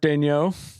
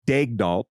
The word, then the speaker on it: Daigneault: they said it's Mark Daigneault. And then if you just Google how to pronounce Mark Daigneault, it's different. It's a French pronunciation, which you just attempted.